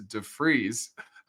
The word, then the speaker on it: de Vries: And I pronounced it wrong. It's defreeze.